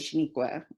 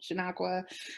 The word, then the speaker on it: Chenequa: with not even oh call me what you want chanakwa chiquita whatever no it's shaniqua and you're gonna say it right and i you know